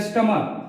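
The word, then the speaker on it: stomach: जैसे स्टमक, बहुत सारे इसको स्टमच भी पढ़ लेते हैं, लेकिन इट इज रॉन्ग।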